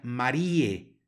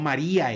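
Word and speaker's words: Mariae: se pronunciará como e Lo mismo sucede en la siguiente palabra que se pronuncia Marie no María e sino Marie porque tenemos una a seguida de una e y es un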